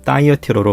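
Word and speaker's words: Thyatira: 두아디라는 영어로는 다이어티로로 발음되며 버가모와 사대 사이의 교통의 요지로 유대인들이 집단으로 이주된 후 상업도시로 크게 번성했다고 합니다.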